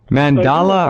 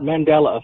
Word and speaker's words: Mandela: Mandala or Mandela? Mandala? Mandela effect. Mandela effect.